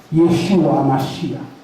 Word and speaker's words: Yeshua Hamashiach: that you need the C of it all Yeshua hamashiach that's how you say his name and HEB